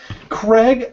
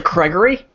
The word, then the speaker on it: Gregory: Craig, what about you, sir? Well, John, I'm a little disappointed because after 51 episodes, you're still mispronouncing my name. It's actually Gregory.